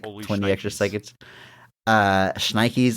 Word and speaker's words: schnikes: called called The Holy schnit edition of the movie cuz it had like 20 extra seconds uh schnikes I'm sorry did I mispronounce my catchphrase put a t in there sorry um schnit schnikes